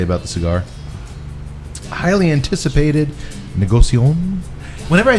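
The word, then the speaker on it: Négociant: don't Bray a NT don't pronounce the T de negocio negocio yes negocio because you're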